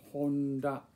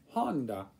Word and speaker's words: Honda: So it's just monosyllabic, like it's Honda, not Honda. Well, you know, or you know, you don't have to put an accent on any particular syllable. It's just monosyllabic.